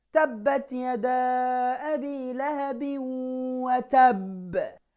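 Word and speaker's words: وَتَبَّ: A strong, firm bounce. Tabbat yada abi lahabi wa tab. It's not watabba.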